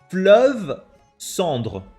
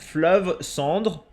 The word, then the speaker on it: Fleuve Cendre: Fleuve Cendre, chat. Fleuve Cendre. That's how you pronounce it.